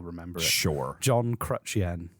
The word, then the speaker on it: Chrétien: name again jean chen i'm thinking of crutch and then the currency yen that's all remember sure john crutchien not quite there we